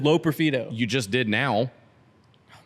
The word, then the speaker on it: Loperfido: you say his name Joey low peredo that's what I said low peredo it's a stick Josh I just said it not just say it no you said L peredo I just said low